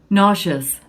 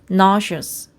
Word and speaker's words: nauseous: 그래서 이번에 nauseous를 더 찾아보고 싶어가지고 사전을 찾아봤는데 일단 발음부터 제대로 된 걸 들어보면 nauseous, nauseous 이렇게 됐고 메스꺼운 또는 뭐 역겨운, 구역질이 나는 이런 느낌으로 적혀 있어.